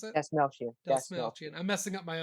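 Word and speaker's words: Dastmalchian: I said it's sad that Lance Reddick and David Dalmachian, is that how you pronounce it? That's Melchian. That's Dalsmelchian.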